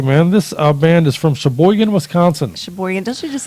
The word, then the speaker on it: Sheboygan: Sheboygan.